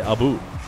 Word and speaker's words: Abu: Boost to finish it Abu is pronounced like how Canadians say AB about but they say Abu so that's exactly what